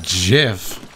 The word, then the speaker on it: gif: the moment please inform dotto how to properly pronounce the word gif it's jeff i thought no i fell somebody could i